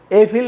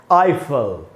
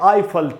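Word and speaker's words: Eiffel: एफिल नहीं है दोस्तों, इसका शुद्ध उच्चारण है इंग्लिश में आईफल। तो हम बोलेंगे आईफल टावर, न कि एफिल टावर, आईफल टावर, इसलिए इसका शुद्ध उच्चारण है।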